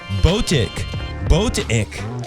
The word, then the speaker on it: Botic: I'm going to say it right, Botic, like a boat. We're in a sailboat. Then ich. Because in German, it's ICH, and some people say it like ish, and some people say it like ich. In Dutch, there's no confusion. It's just IK, ich. Anyways, so in this case, it sounds like that word for I.